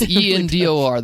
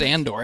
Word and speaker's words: Endor: It's Endor, the forest moon of Endor. Everybody knows that. Come Yeah, on. I mean, it's pronounced Andor. Everybody knows that. No, it is freaking not. They do not celebrate April Fool's Day in India, and Endor is the forest moon. Okay, it's not Andor.